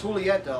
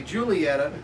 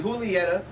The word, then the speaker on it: Julieta: and it is pronounced Julietta a lot of people like to say Julieta but it's actually Julietta and it's the Toro